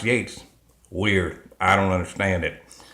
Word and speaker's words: Yeats: the second coming by WB Yeats looks like he eats actually pronounced Yates weird I don't understand